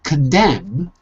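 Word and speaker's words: condemn: we're learning here and in condem is the end silent or can you hear it it's silent it is it is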